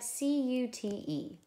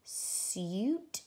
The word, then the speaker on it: cute: So we have C-U-T-E. I see marker E, so that means this is long and this is silent. It's either going to be suit or cute.